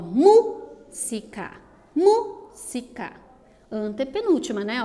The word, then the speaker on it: música: Veja que a palavra destacada agora é música. E da mesma forma que cuéntame, a antepenúltima sílaba é a mais forte. Ó, música, música.